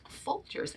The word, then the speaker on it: Folgers: coffee and that coffee that brand is called folgers and it rhymes with soldiers right and that's why